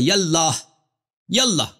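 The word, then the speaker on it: یا اللہ: تو یہ کہنا الف کا یہ الف جو ہے اللہ کا, یہ الف وصل کے لیے. تو یہ جب یا کہیں گے تو اس کے ساتھ یہ الف کے تلفظ نہیں ہوگا.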